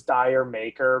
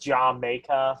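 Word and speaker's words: D'yer Mak'er: always thought it was dire maker but then like tyler looked up an interview where he said it's supposed to be pronounced jamaica like it's like british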